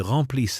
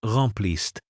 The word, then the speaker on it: remplissent: Quand vous avez dit « ils remplissent l'espace », vous avez prononcé « remplissent » avec un accent sur la mauvaise syllabe. C'est rem-p-l-i-s-s-en, pas remplissent.